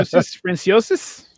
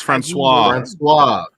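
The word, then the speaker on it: François: Franciosis? That's Francois.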